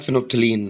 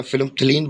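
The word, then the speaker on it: phenolphthalein: मैं मेरी सारी प्रोनाउंसिएशन यहां पे गलत हो गई है। तो भैया दूसरा वाला है फिनोफ्थलीन। तो मेरी प्रोनाउंसिएशन पहले गलत हो गई थी। अब सही है। फिनोपथ फिनोप्थलीन बुलाते हैं इसे।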